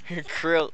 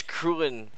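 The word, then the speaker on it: Krillin: Krill, it's Krulin.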